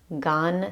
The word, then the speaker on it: Gan: Gan, sometimes it's spelled G-A-N, sometimes it's G-A-M. I'm going with G-A-N this time around.